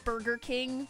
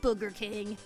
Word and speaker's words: Burger King: Sonic, you're going to have to make really sure that you pronounce Burger King with the R in there because it sounded like you just said Booger King.